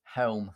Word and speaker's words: Chelm: And how do you say it? Helm. Where the fuck is the C? We like combine the C and the H. And that becomes a ch sound.